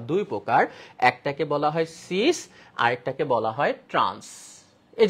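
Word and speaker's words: cis: একটাকে বলা হয় সিস আরেকটাকে বলা হয় ট্রান্স। এই যে দেখো এখানে সিস বলা হয়, ট্রান্স বলা হয়। এদের সংজ্ঞা আছে। সংজ্ঞা মনে রাখবো আমরা কিভাবে? মনে রাখা খুব ইজি। সিস মানে সেম।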